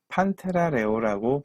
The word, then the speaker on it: Panthera leo: 예컨대 사자들의 경우는 판테라 레오라고 불린다. 레오 종인데 판테라 속에 속하는 레오종이다. 예, 이것도 영어로는 리오 이렇게 해도 됩니다. 그러니까 판테라 레오 하셔도 좋고 펜테라 리오 이렇게 하셔도 좋습니다.